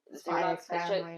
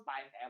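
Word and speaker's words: Spy × Family: It's just like the same thing as Spy Family. They have the X in between, and no one. Spy X Family. Yeah, you're not supposed to say the X. You're Oh, supposed to say Spy Family.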